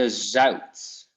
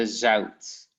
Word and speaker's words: zout: In the pronunciation, there's no difference, but only with the writing. So you have like rauw in the writing and zout, but you pronounce it the same way. Au and au.